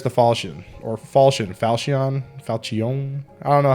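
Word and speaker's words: Falchion: fall shooting or Falcon falcion falcion I don't know how to say it it echoes they say fall Shin Like fall chin falchin so that's how I say it generally anyways this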